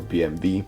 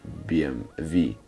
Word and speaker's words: BMW: race modified I guess should be pronounced BMV than BMW at least in Germany that's how I remember it was pronounced BM V or BMV so right now I